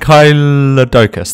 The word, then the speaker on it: Ankylodocus: actually not the third it's the first the Anglia Doukas hour or and kylo politicus or and kylo and Kaila doukas that's how you pronounce it and it's as you can see